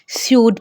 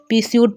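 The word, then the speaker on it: pseudo: पिस्यूड है, पिस्यूड नहीं पढ़ेंगे, इसे हम स्यूड पढ़ेंगे। यहाँ पर भी P साइलेंट है, पिस्यूड पढ़ना गलत है, इसीलिए यहाँ भी हम पढ़ेंगे स्यूड।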